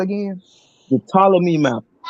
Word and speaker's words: Ptolemy: was called again the ptolemy map how you spell that todd ptolemy it's p p wave wait spell that again p it starts with a p the p is silent okay p o p